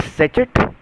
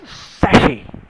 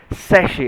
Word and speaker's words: sachet: Is it sachet? No. So this is how we pronounce it. It's pronounced as sachet. It is called as sachet and not sachet.